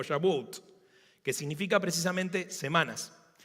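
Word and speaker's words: שבועות: Pero Pentecostés, el nombre original era, no me pidan hablar en hebreo, pero más o menos se pronuncia algo así, como Shavuot, que significa precisamente semanas.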